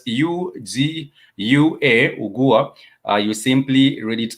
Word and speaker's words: ugua: For example, in the word ugua is spelled U-G-U-A, ugua. You simply read it. You simply pronounce it as ugua because it starts with the letter U or the vowel U.